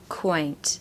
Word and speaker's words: quaint: okay so quaint so we've Really Got A W sound here I really like the word question you know you've got that worse sound um you also get it in the word quiet and really it's a really true sound so quaint quaint and if you don't